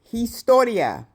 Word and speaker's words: historia: History, historia. Don't pronounce the H.